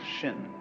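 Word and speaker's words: 心: please pacify my mind in Chinese mind is um this word pronounced shin and shin is here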